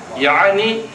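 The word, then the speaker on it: يعني: இது எப்படி இப்போ நம்ம யானி அப்படின்னு ஒரு வார்த்தை இருக்கா?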